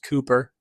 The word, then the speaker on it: Cowper: I know it's pronounced Cooper.